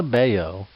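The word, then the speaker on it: Batlló: Casa Bayo, the Catalian pronunciation, is a building in the center of Barcelona.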